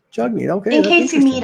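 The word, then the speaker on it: Jagmeet: learned recently that we're all saying his first name wrong it's Chuck meet its jug meet its spell jacket but it's pronounced jugni jugni okay in case you meet him now we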